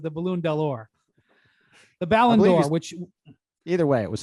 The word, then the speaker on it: Ballon d'Or: prestigious award mr bontemps it is pronounced the ballon d'or or as brian just said it before the balloon door when he asked what